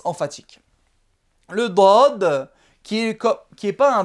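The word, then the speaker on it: ض: Le dod de la Fatiha. Donc ça c'est une sorte de D, mais très emphatique et il ne se prononce pas au même endroit que le D.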